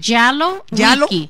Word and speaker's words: Jalowiecki: Como whisky, Jalowicki. No, sin la S, Jalowicki.